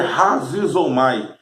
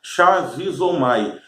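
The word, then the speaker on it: χαρίζομαι: Chá ou ra, na verdade é razizomai, porque o CH, se usarmos a pronúncia do português, vai ficar shazizomai. Mas se falarmos de acordo com o grego, o CH tem um som de R.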